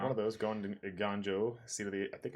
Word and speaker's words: Eiganjo: One of those going to Eiganjo, seat of the. I think I said it right. Is it Eiganjo? Yeah, Eiganjo.